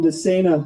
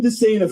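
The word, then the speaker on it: DeSana: I asked Representative uh Jim Dena how to pronounce his name. He said, "Just think insane for running for public office."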